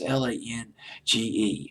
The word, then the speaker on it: Lange: I don't know if it's Lange or Lang. His last name gives me a friggin' headache because I never can figure out how to pronounce it. It's Lange. I'll just call him Lang.